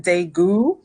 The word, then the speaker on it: Daegu: so this is episode six meet me in daegu i think that's how it's pronounced um in the throes of the korean